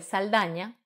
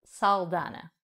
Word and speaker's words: Saldaña: actriz de Hollywood Zoe Saldaña cuyo apellido pronuncian sobre todo en Estados Unidos como saldana así que vamos a